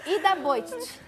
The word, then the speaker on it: Ida Bojtic: Ida Bojtic.